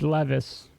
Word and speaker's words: Levis: order in chat that's no big deal it's Levis yeah if you look at the pronunciation if you look at the pronunciation of